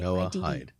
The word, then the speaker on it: Noahide: And the Noahide is spelled Noahida. IDE. IDE, sorry. Noahide. Like Noah. Yes.